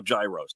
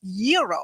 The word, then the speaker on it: gyro: in line at Papa Gyros I order the gyro Supreme suddenly the lady behind me chimes in it's pronounced Euro then the fella behind her says it's a gyro I turn my back